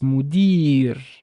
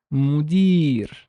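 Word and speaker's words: مدير: uh so the uh row scene is a long vowel so it's mudir mudir foreign after it so it's a long e sound long Castro so it's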